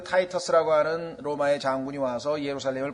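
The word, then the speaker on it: Titus: 로마의 티토라고 하는 타이터스라고도 하고 로마 말로 티토라고 하고 영어로는 발음을 타이터스라고 하는데 그 타이터스라고 하는 로마의 장군이 와서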